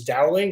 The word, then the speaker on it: Dowling: So we have this revolving wolf theme, which is because my last name is Dowling, which rhymes with howling.